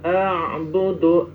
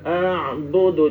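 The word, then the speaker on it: أعبد: Kembali lagi ketika bersama-sama antara Hamzah dan Ain ini harus betul-betul kita teliti cara membacanya seperti alkafirun. La a'budu a Hamzah dulu. Hamzah a lalu ke ain a gitu. La audu. Jangan ain semua.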